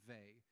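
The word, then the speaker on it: Weil: comes from that 20th century French philosopher Simone Vey it's spelled w-e-i-l pronounced they she's a genius and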